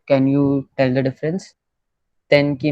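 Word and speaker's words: 天気: Okay, so it is pronounced like this if the sound ka and ga rose follows after the mura. तो tenki.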